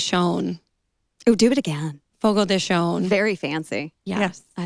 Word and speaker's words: Fogo de Chão: not spanish so um it is pronounced more of like an sh sound and the the d